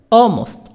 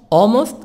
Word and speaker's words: almost: l ma capitana Alcona almost almost l silent orphan Cecil almost often